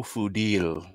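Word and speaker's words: Fadil: Real name, Fudil. My name is Fuddle. Oh, I'm sorry. He pronounces it Fuddle. That sounds even worse. It's really Fudil. Phonetically, historically, traditionally, it's Fudil.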